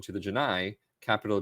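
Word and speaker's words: Genii: capital N A I I is identical in pronunciation to the Janai, capital G I in Stargate Atlantis 2004, where Cole meani, of course, Chief O'Brien has a recurring role as the Janai chief.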